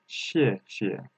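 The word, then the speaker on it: 谢谢: If there is a two same character between, the second opinion doesn't has tone. So how can we pronounce that? Xie xie. The second xie is relaxed ourselves. Xie xie.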